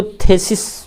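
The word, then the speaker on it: thesis: अब crisis, oasis, oasis, थीसिस, generally इसको थेसिस बोल दिया जाता है, लेकिन उच्चारण में थी है, थेसिस नहीं, थीसिस।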